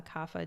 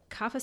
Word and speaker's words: kapha: so ayurveda in spring is associated with uh kapha dosha it's spelled k-a-p-h-a and in sanskrit the word capo